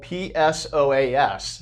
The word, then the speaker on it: psoas: um remember that's spelled p-s-o-a-s so the p is silent but it is the